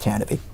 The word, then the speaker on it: Tantive: tanv yes it's pronounced tanv tanavy tanv tanv it doesn't look like it's spelled that way but that's tanv the